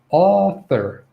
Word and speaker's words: author: i make this clear okay author author okay this is a vowel sound it's the ah ah sound it's a back vowel um if you